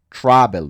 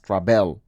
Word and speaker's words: travel: Pues sería con una L otra vez, porque la sílaba fuerte está en la A, en travel, no es travel.